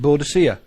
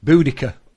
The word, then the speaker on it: Boudica: We all told to pronounce it Boadicea. And from now from the Caesars. Oh, yeah. From the Caesars. It was Boadicea. Boadicea. Now they said Boudica. Yeah, I've heard that one, Boudica.